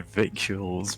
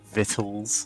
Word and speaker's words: victuals: I'm I've been pronouncing well I've been pronouncing victuals but yeah vitt vitt yeah that's more of